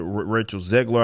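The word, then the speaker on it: Rachel Zegler: is the chick the rachel ziegler i believe that's how you say her name snow white she's not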